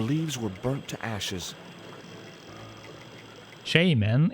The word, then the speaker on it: shaman: were burnt to ashes shae man is the correct pronunciation but most people hate it really that's interesting over here we say a shaman we don't see shaymin there was nothing else